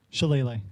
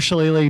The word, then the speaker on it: Shillelagh: Shillelagh.